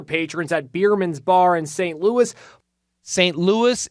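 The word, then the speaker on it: St. Louis: at biermann's bar in St Louis St Louis if you add an e it's Saint Louise so it's not St Louis St Louis and in America we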